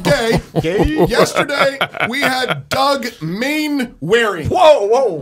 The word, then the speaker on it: Mainwaring: Speaking of gay, yesterday we had Doug Mainwaring. Whoa. Mainwaring? Mainwaring. Warring. Yeah, Mainwaring. You no, kept on doing saying Warring, and he told you.